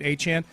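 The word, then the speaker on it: Achane: does by the way need to change the pronunciation to aan he made it clear in a podcast he pronounces it aan he is the leading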